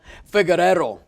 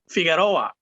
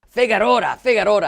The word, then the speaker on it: Figueroa: Today we're having a great interview with Rafael Figueroa. That's not right. How do you say it, Rafael? Figueroa. Figueroa.